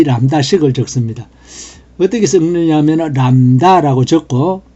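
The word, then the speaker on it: lambda: anonymous 함수를 만들 때 이 람다식을 적습니다. 어떻게 적느냐면 람다라고 적고, 원래는 그리스어로 이건데 우리 키보드에 람다가 없으니까 이렇게 적습니다. B가 묵음으로서 요거 꼭 들어갑니다.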